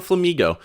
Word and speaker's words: Flamigo: and pick up a Flamigo, which is just Flamingo with a silent N, and then we grab ourselves a Drowsy and a Ghastly.